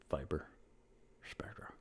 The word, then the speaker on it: Viper Spectra: By the way, that's how you say it. Viper Spectra.